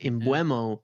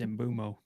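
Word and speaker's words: Mbeumo: a video they're like, "Oh wait, it's imbumo." And they've been saying it immuo for such a long time. But someone corrected me like two months ago and yeah uh K Carl Ananka friend of the channel and stuff he corrected me on it saying it's Zimbumo.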